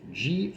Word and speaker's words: Gillibrand: currently have a female U.S senator whose surname is spelled g-i-l-l-i-b-r-a-n-d and it's pronounced gillibrand but I think kilgo